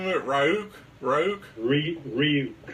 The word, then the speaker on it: Ryuk: Ryuk.